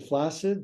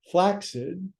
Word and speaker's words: flaccid: flaccid they go flaccid people pronounce flaccid flaccid that's an improper pronunciation this is flaxid if you put two C's together it makes an X right vaccine accident Occidental flaxseed place the tip of